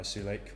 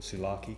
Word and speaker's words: Sulake: It's an official one by Sulake, or Sulaki as it's actually pronounced.